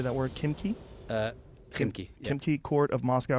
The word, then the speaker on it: Khimki: Khimki.